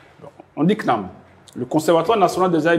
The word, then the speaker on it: CNAM: Sur la France là-bas on dit Knam euh la Caisse nationale d'assurance maladie.